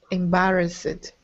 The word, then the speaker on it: embarrassed: embarrassed okay good embarrassed embarrassed not Ed just embarrassed like it like as if there's a t embarrassed embarrassed exactly okay